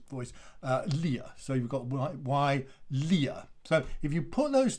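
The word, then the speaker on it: Wilier: your from your studies if you have w i at the beginning of a word then that is pronounced y so you have y leah and then you add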